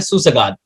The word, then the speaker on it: Susegad: सबसे पहले मैं क्लाइड आपसे जानना चाहता हूँ, आपकी किताब का नाम है सुसगाद। सबसे पहले ये बात बताइए कि एम I pronouncing it right और इसका मतलब क्या है?